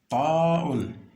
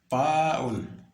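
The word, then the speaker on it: تاء: Ensuite, ta'un, ta'un. Vous collez donc la langue à la partie supérieure. Donc, ta'un.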